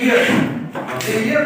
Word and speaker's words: heir: अच्छा जी, इसी तरह ये ईयर कौन है? वारिस, यानी इसमें मसलन he is an heir, यानी वो वारिस है, वो एक वारिस है।